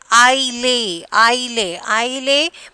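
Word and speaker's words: island: And I lay. We are not pronouncing S. Here S is the silent letters.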